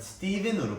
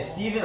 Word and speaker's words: Stephen: 제 영어 이름이 Stephen이잖아요. 그쵸. It's pronounced Stephen. 근데 그 쓰는 방법이 사람들이 발음할 때 Stephen으로 발음해요. 근데 Stephen 아니고 Stephen입니다. It's pronounced Stephen. Okay? P가 들어갔는데 스티븐으로 읽어요? 그러니까 PH인데 왜 Stephen이야? 이해할 수 없어. 맨날 Stephen이래. Stephen이야. 왜 P가 들어갔는데 스티븐이야? I don't know. There's a PH. There's no V.